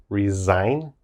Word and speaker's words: resign: let's look at resign resign be careful with the pronunciation it's resign resign it's a verb to